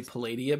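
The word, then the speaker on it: Palladia-Mors: Is that how you pronounce that? Yes. Sure. Hey, I got one right. I mean, I would say Palladia, but that's just me. I think you can go either way.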